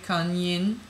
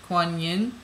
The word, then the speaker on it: Kuan Yin: Kind of like yin, okay? Yang, yin yang, okay? Kan yin. Kuan Yin, okay, sounds very much like Kuan Yin, Kan Yin, okay, because we come